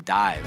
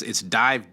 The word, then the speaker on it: DIIV: It's DIIV, DIIV. It was called, you spell it the regular way, but it's after the Nirvana song.